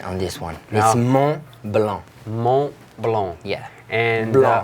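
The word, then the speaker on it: Montblanc: not influenced here on this one more below Mont Blanc yeah and not blue okay well it's fine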